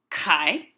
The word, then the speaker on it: chi: Phi Chi PSI Omega Greek has a letter Kai which looks an awful lot like our X but is uh pronounced as a kai and when Greek letters